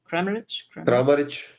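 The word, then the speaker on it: Kramarić: Crearich.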